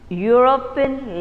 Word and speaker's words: European: you speak the word when you say the word it comes as what is the sound that you get you get you you sound isn't it your sansa